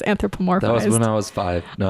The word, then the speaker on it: anthropomorphosis: I struggled a little what did I say like anthropizer like you like you skipped the middle syllable somewhere something was off I just remember that okay because it is anthropomorphosis when I was five